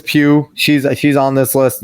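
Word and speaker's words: Pugh: audience to watch him Florence poo po I don't know you say her name PE I called her poo sorry but Florence Pew she's she's on this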